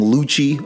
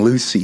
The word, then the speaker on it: Lucci: now and yes okay I am saying Luchi okay so many people in the comments dude have been telling me like dude stop saying Lucy it's not his name you're saying it wrong I'm sorry bro like